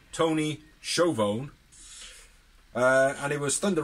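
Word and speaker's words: Schiavone: we had a promo from uh with tony chovoni which is a name is actually pronounced tony chauvon uh and it was thunder rosa issues an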